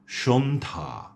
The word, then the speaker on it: সন্ধ্যা: কিন্তু সে জফলার কোন উচ্চারণ হচ্ছে না। আমি শব্দগুলো আবারও বলছি আপনাদের জন্য। সন্ধ্যা স্বাস্থ্য সন্ন্যাসী মর্ত হর্ম